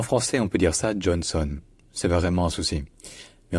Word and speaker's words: Johnson: donc Joh et enfin la deuxè syllabe le voyelle n'est pas un a en fait la voyelle n'existe pas vraiment c'est un N qui est prolongé suffisamment pour qu'on ait pas à prononcer de vraie vOYEL donc ce n'est pas son c'est Sun donc Johnson Dustin Johnson Dustin